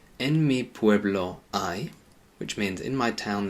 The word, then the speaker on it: hay: things or many things, it just stays the same and it's pronounced I.